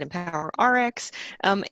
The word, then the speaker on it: EmpoweRx: a LinkedIn page it's empower X and we pronounce it empower our X Inc and you can find it through any